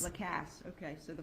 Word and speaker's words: Lacasse: I'm sorry, how do you pronounce it? Lacasse. Lacasse.